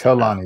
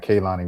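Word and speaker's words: Kehlani: And it's Kanani. It's not Kanani. We've been saying it wrong the whole time.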